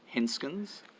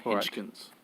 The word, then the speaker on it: Henskens: others henskins mr truman sorry henskins that's how you pronounce my name yes not hodgkin's okay sorry sorry minister